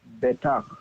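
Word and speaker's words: בטח: We're learning a new rule where we have two short vowels under the two syllables. And in this case, we will accent the first syllable, not the second.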